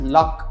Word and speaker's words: LOQ: இதை வந்து YellowQ is pronounced as லாக், LOCK அந்த மாதிரி ஒரு ப்ரொனவுன்சியேஷன் தான் இருக்குது அப்படின்னு சொல்லிட்டாங்க.